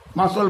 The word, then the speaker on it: muscle: কীরকম ধরো মাসল, মাসল বানামটা কি MUSCLE, মাসল, কিন্তু এখানে দেখো সি এর উচ্চারণটা কিন্তু হচ্ছে না, মাসল মানে মাংসপেশি।